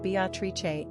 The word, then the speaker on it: Beatrice: it remains a top 20 favorite girl's name, pronounced Beatrice in Italian.